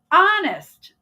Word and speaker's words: honest: the t is silent honest the H is silent psychology the p is